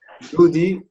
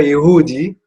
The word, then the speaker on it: يهودي: Vous avez remarqué que quand je le prononce ou lorsque le chanteur le prononce, Yodi élude la prononciation du phonème Ha.